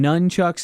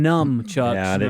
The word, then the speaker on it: nunchucks: Bubba mentioned the weapon nunchucks he called him numb chucks but it is also none yeah but we're correcting